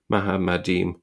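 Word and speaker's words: מחמדים: And Nadia Vidro uh similarly writes, although written identically to Arabic Muhammad with plural suffix, the Karite text clearly reflects the Hebrew pronunciation mahadim desirable things.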